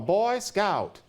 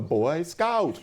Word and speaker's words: Boy Scout: Why doesn't he say a Boy Scout? But the Boy Scouts were new then, and so he would have thought, well, it's one of those boy SCOUTS, those scouts who was a boy. But if you say it enough and it becomes a thing, then it becomes Boy Scout.